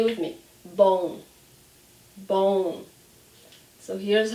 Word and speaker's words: bom: So say with me, bom, bom. So here's how we spell it, and I want to give you a vocabulary tip here.